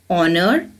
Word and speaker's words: honor: pronunciation of these words in these three words the letter H is silent children do you know